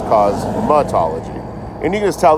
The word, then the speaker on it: cosmetology: It's not cosmotology, it's cosmattology.